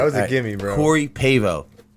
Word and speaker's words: Pavao: Now, right away, first question: did I pronounce your last name correctly? No. All right. It was close. Close. Is it the way they yell for Pavao? How do you say? You just did it.